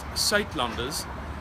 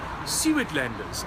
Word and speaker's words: Suidlanders: find more information okay it's pronounced site Lumbers but in English you would probably pronounce it some of the things like seaweed lenders and this is how